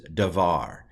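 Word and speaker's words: דבר: Okay, this is Davar, is the way it's pronounced.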